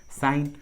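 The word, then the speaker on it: sign: जी का उच्चारण नहीं किया गया है, जी साइलेंट है। देखिए तीनों इंग्लिश वर्ड्स में जी का आवाज़ नहीं आ रहा है, साइन, फोरेन, कोनैक, देखिए सभी इंग्लिश वर्ड्स में जी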